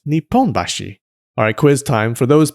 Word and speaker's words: Nipponbashi: There's a district in Tokyo called Nihonbashi, but there's a different district in Osaka with the same characters but pronounced Nipponbashi.